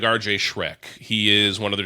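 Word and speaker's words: Schreck: Shrek. Now it's spelled s c h r e e. So it's not spelled exactly like the ogre, but it would be a dream for the Blue Jays social media team.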